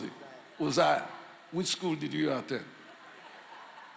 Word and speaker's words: Uzziah: And King Uzziah, or how do you pronounce it? Uzziah.